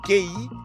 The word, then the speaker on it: Qi: E tudo isso para estimular uma espécie de força vital, que se escreve QI e se pronuncia Qi.